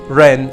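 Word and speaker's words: 人: The character rest, we said it, is pronounced xiu, while the radicals are pronounced ren and mu.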